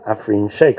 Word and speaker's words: Afreen Shaikh: talk about AI in education and I'm with afine Shake I pronounced that correctly yes good AF tell us